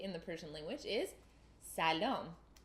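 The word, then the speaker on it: سلام: in Persian the way you say hello is Salim so long that was great pronunciation and hopefully you got that along with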